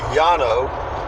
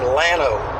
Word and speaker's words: Llano: Texas it's lamo but double-l in Spanish is pronounced Y which would be Yano but when the texicans came in they changed the pronunciation to the English version which became Llano it's a small Central